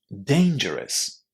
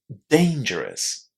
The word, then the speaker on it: dangerous: How would you pronounce it? Listen and check. Dangerous. Dangerous.